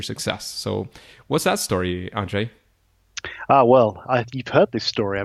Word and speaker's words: Andrzej: You're close enough. It's Andrzej. Andrzej. Okay, fantastic. We both have Polish background, so I'm trying my best, but of course I don't speak Polish either. So you got right. It's Andrzej's the one that gets everyone. They all kinds of pronunciations. Yeah, the R and the Z, that kind of pronunciation is not an easy one.